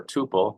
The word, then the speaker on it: tuple: you can pronounce either tupple or tupal you can pronounce it either way as far as I'm concerned uh it stores a